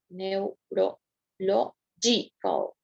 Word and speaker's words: neurological: Neurological. Neurological. Está en la cuarta.